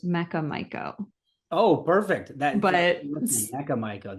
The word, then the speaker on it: Mecha Maiko: It's It is pronounced Mecca Mico.